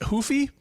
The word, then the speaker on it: Ruffy: is it is it ruy or Huffy it it's hoofy like the the U is a long I should know that